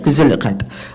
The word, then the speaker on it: gezelligheid: Whereas the Dutch expect, there's a word they have that I can't pronounce, but sounds basically like, I think it's gezelligheid is what it is, gezelligheid. Gezelligheid, that's it.